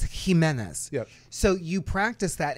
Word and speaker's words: Jimenez: How do you pronounce this name? It's Jimenez.